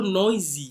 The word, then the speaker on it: noisy: exercise machine เครื่องออกกำลังกายค่ะ Next, เสียงดังนะคะ noisy นะคะ So noisy. คำนี้ออกเสียง z นะคะ Dr. Ray is so noisy.